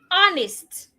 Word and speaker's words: honest: honest I am an honest coach.